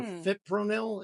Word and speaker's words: Fipronil: studies put this product fenil or Fipronil is the way it's pronounced at the top of